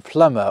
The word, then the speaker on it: plumber: Like the B in plumber or the L in salmon.